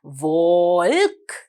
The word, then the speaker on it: walk: දැන් මගේ දුවලා පුතාලා walk කියලා කියනකොට අපිට L අකුරක් තිබුණාට අපි walk කියලා කියනවද? නෑ. අපි L අකුර ශබ්ද කරන්නේ නෑ පුතේ. L අකුර silent letter එකක්.